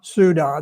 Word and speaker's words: Ceuta: in a place called Ceuta. Um and if you if you need to know how to pronounce it, just remember duda Ceuta. That's that's the way that that you pronounce it.